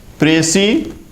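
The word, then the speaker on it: précis: प्रेसी S silent है, प्रेसी संक्षेपण अंग्रेजी के प्रेसी राइटिंग शब्द का हिंदी पर्याय है।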